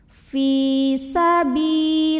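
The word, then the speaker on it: سَبِيلِ اللَّهِ: Fi sabilillah, lam pada lafaz Allah dibunyikan secara tarqiq, sebab huruf sebelumnya berbaris kasrah, maka bacanya tipis, lah pangkal lidah datar. Fi sabilillah.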